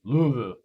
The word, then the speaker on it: Louisville: Jean says, it's pronounced Louisville.